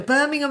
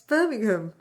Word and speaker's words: Birmingham: But that's not how you say it. How do you say it? Every time I say I'm from Birmingham, somebody goes, Birmingham. It's Birmingham. Birmingham. It's like Alabama.